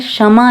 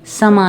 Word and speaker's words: समा: you know it's funny सारे gamma के site पे इस गाने की स्पेलिंग है शमा है सुहाना सुहाना एस एच ए एम एस दो एक क्षमा रखा हुआ है और वो बड़ा सुहाना है व्हेन इट्स एक्चुअली समा है सुहाना सुहाना मुझे वो अलीशा